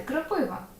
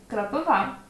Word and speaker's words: кропива: впливом російської мови нам хочеться інколи сказати кропива але ні кропива підошва чи підошва підошва